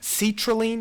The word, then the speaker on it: citrulline: it's gonna form what citrulline now you'll say how does seats help me with citrulline just pronounce seats and does it not sound like seat Raeleen citrulline seat Raeleen so that is far